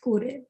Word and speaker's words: Cure: So he said it's pronounced Cure, but the English version is Cure, Dr.